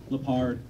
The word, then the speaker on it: Leppard: Lepard.